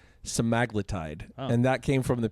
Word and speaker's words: semaglutide: the glp1 Inhibitors yeah semaglutide and actually the apparently we've all been pronouncing it wrong it's stide and that came from